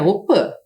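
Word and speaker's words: opy: participam sempre da op embora a gente escreva aqui opi que é a casa de reza a pronúncia correta é Opa Principalmente as crianças pois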